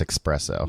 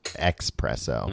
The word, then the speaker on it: espresso: It's pronounced espresso. Yeah. The X is silent, Tom. Yeah. Any idiot it used to be presso, and now it's expresso.